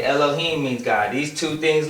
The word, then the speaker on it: Elohim: Y makes a long I cuz you say Elohim all right it has a long in to